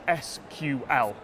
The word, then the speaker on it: SQL: there's actual bit of debate over how I should pronounce this I call it sequel injection the acronym is SQL whichever way you call it it's a way